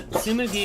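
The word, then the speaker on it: Tsumugi: heterosexual um yeah so sumugi is also good i almost felt like i mispronounced her name but that is correct right moogie okay yeah but it's a su not sue okay um i'll i'll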